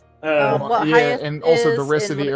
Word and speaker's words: Hayethe: But yeah, for those on the YouTube, I put in the chat, it's pronounced hi, like hi and yes, but if you were Mike Tyson.